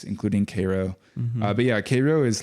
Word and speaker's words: Cairo: me when I visited Koo Illinois which is the southernmost town in Illinois you said it right that's how they say it there right yeah it's spelled like Cairo like CYO Egypt but um they very